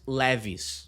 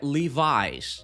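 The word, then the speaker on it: Levi's: Ela pronuncia essa marca de jeans da mesma forma que a gente fala em português, Levis. Em inglês, o nome dessa marca é Livis. a gente chama de Leviz jeans.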